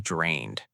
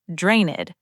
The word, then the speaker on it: drained: That's exactly when you might say, "I'm drained." Now, let's work on pronunciation. Listen carefully. Drained. Notice the ending. Drained, not draineded. Just drained.